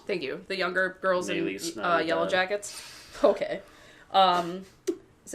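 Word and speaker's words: Nélisse: Nellis. Thank you. The younger girls Nellis, in Yellow Jackets.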